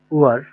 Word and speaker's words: Uhr: উ, হা, এর, অথবা আমরা যদি ইংলিশে বলতে চাই ইউ এইচ আর, ইংলিশে এটার কি আসে উচ্চারণটা আগে সেটা বলেন তো। UHR। উয়ার, এরকমই তো আসে আমাদের উয়ার ইংলিশে, তাই না?